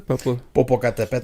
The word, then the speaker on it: Popocatépetl: asked for the volcano to how do you pronounce it, brother? Popocatépetl.